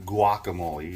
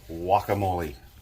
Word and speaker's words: guacamole: It's not guacamole. You don't say it with a G. Even though it's spelled with a G. It's guacamole.